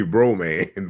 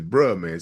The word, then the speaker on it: Bruh Man: You say bro man, but it's bruh man.